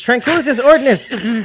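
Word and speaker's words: Tranquilitas Ordinis: Okay, Thomas says Ordinus air bubbleless. Incorrect. It's Tranquilitas Ordinus. Say it right.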